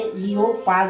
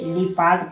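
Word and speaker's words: leopard: पहले इ आया है तो ओ क्या हुआ साइलेंट इसे इ ओ पाद नहीं इसे लिपाड पढ़ेंगे।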